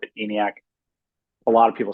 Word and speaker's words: ENIAC: So I guess I mispronounced the name of your firm. I said Eniac.